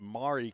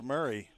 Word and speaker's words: Maury: Beautiful afternoon here in Middle Tennessee, Columbia State, located in Murray County. If you want to call it Maury County, you'd be incorrect. It's M-A-U-R-Y, but it's pronounced Murray, as in Richard Murray County.